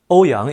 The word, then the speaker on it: 欧阳: Ouyang is a common Chinese surname here, and it rhymes with Oberman.